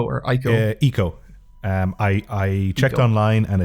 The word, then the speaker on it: Ico: You've been playing Eco or Ico? Eco. I checked online and it's pronounced Eco.